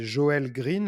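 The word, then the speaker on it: Joel Greene: au bout mais c'est je vais me prononcer à la française c'est joël green l'auteur qui a s'appelle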